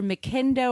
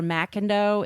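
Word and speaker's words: McIndoe: Our non-creep this week, and I think his name is pronounced Peter, it's either McIndo or Macindo. It's MC, capital Indoe.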